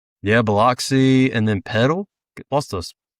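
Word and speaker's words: Biloxi: Bloxy.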